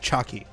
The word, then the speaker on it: Chiaki: person named Chiaki, and they pronounced it Chaki, like chalky.